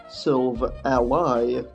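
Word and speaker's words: Silvally: silver alloy and this because everybody gets the name wrong the name SIL Valley has actually pronounced silver a lie because the name of the combination of silver and a lie obviously this is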